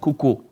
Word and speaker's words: Kuko: Kuko. Wow. So the U is silent.